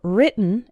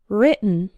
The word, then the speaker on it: written: night and bite right but the in written is like in the words sit and bit written right written another common